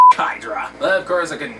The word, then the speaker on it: Hydra: these two words pale hydro buggy buddy i know you were brainwashed at the time but you're saying it wrong it's pronounced hydra anyway oh uh let